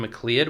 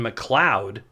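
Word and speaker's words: MacLeod: I get a lot of grief saying his name wrong and I think I already did in the video. Kevin McCloud. Okay, there. I think that's the first time I've ever said it right.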